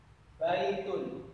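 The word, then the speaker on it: بَيْتٌ: Baitun. Ya, ini bait bacanya baitun. Ada tanwinnya, ada domatennya.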